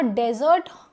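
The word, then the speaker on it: desert: नाउ डेजर्ट इसका pronunciation है डेजर्ट। बट अगर यह double S ई आर टी होता खाने वाला मीठा तो यह क्या हो जाता? डेजर्ट। ठीक है?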